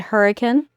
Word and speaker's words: Hurricane: We pronounce it hurricane.